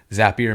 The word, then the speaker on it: Zapier: who works at zapier zapier makes you happier that's the pronunciation that is correct